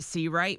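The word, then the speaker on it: Seawright: Pronounced Cight.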